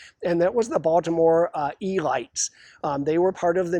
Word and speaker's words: Elites: It's spelled elite like we would spell elite, but if it was 1940 and you were in Baltimore, you did not say elite. You said the Elites.